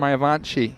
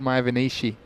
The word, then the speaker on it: Mayavanshi: It's Mayavanshi. You said Mayavanishi.